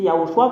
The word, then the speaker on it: Yahoshua: laquelle l'ambassadeur de yahosuaadia dit c'est yahoshua qu'on le prononce même les Hébreux savent